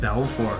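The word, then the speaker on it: Belfour: here we got ellen ed belfort i had belfort that's how you say it right yeah yeah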